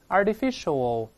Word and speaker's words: artificial: 我们快一点，artificial，那个 art 变成 art 的。